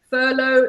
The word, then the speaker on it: furlough: a strange word it's we say furlough so this is my pronounce this word as you can see furlough silent gh silent G H and the long oh yes oh it's a